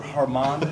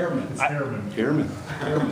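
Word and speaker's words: Herrmann: Walter Harmon, did I get that right? Herman. That's not what Manu told me. Yeah. Oh. I think it's Herman. Is it Herman? Hair.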